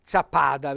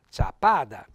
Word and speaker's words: Sappada: quindi la dolores tutta sappada vedete ha messo l'accento sulla prima in realtà va sulla seconda sappada la lana la usava anche